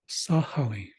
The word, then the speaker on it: sahali: SA above sahali sahali so again you might see this word spelled with g h a g and an H so that would be sahali Sali where it's a deeper more gutural sound so you could say it that way Sali or you could use